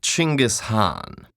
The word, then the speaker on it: Genghis Khan: First of all, it's pronounced Chinggis Khan.